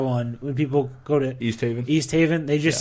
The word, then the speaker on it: East Haven: He says Staven. That's Yeah. awful. And when he actually says East Haven, I'd say no, say it correctly.